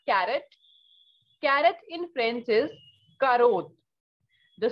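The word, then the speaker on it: carotte: next we have carrot carrot in french is karuth the spelling is almost the same only difference is of e right so and pronunciation is entirely different in english it is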